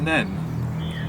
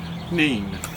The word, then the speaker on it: Nene: upstream paul yes um down at the northampton end of the river we say the river then and up in peterborough they say the rubber neem we both tried to